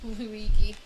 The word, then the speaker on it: Luigi: I totally mispronounced Luigi's name and was trying to not bring attention to the fact that I mispronounced Luigi's name because I saw the G and I think I was thinking of the like Lugie thing.